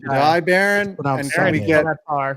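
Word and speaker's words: Jahdae Barron: How do you say that? J Jai Jade Jade Baron. It's Jai Baron.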